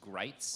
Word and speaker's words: Gritz: writing about him, that his name rhymes with sights, as in rifle sights, or bites, which I think was a subtle way of expressing bias because Bo Gritz definitely bites.